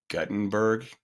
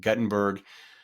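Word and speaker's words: Guttenberg: be basically going through Gutenberg I would pronounce it Gutenberg but I think in Iowa they call it Gutenberg which is where um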